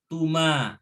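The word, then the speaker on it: تُمَا: Tanda fi'il madi yang ke-6 adalah diakhiri dengan huruf ta berharokat dhammah tu, kemudian ma berharokat fathah, dan alif berharokat sukun, dibacanya tuma ya, tuma.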